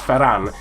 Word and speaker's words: Ferran Torres: Ferran Torres of Valencia I don't know why I've pronounced that so Spanish Lee I'm pretty sure it's just Ferran and then Torres but he's 65 overall